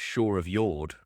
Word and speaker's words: Shore of Jord: So okay, you pronounced it Shore of Jord, and I've been pronouncing it Shore of Jord like a proper commoner.